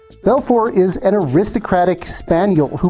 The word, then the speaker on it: Belfort: whom I love equally the first one is bfor the tea is silent I'm sure I'm butchering that because I don't speak French anyway but at least I got that part right Belfor is an aristocratic spaniel